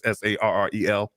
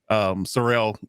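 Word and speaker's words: Sarell: So Foster Salyer was actually I can't pronounce his last name. It's Sarrel. Sorrell.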